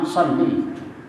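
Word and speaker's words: صلِّ: nya apa Sorry jadi Allahumma sholli pendek tuh jangan dipanjangin Allahumma sholli ala kalau sholli nanti perempuan Masya Allah perempuan Allahumma sholli ala sayyidina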